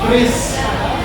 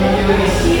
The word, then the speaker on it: QRIS: Kalau menurut orang-orang yang tahu dan teman-teman juga cara pembacaan yang benar itu adalah QRIS, bukan QRIS.